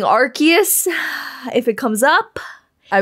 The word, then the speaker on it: Arceus: I used to say Arceus, Arceus, until I learned the correct pronunciation. Even though it pains me, it actually physically pains me to say Arceus, but I will be saying Arceus if it comes up.